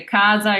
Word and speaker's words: casa: difference in those pronunciations, because if you say casa, you're saying house, casa, you're saying register, so you're saying two completely different things just by slightly changing your pronunciation.